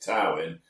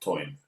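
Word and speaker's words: Tywyn: I pronounce it Tin. My dad My dad always said it was pronounced toin.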